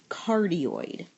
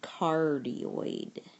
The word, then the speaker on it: cardioid: a graph looks like this it's called a cardid sorry I need to pronounce this right C cardioid and any equation for Polar coordinates of the